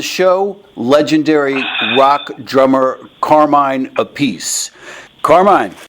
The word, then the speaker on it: Appice: Okay, so there's actually 3 different ways you guys pronounce it, right? Yeah, so what I've been doing is just saying, just call it Appice.